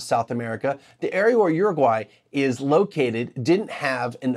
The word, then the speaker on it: Uruguay: For the record, it's pronounced Uruguay from all the people I heard pronounce it in the webinar I watched. These were people from there. So it's not Uruguay or Uruguay or Uruguay or whatever. I'll do my best to say it correctly too. With that said, the proper Spanish pronunciation is Uruguay.